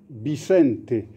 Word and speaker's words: Vicente: Et si je voulais être perfectionniste, je dirais même que le prénom de ce missionnaire, c'est Vicente, parce que le V en espagnol, ça fait un B.